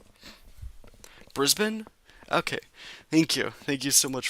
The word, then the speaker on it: Brisbane: By the way, it's pronounced Brisbane. Brisbane?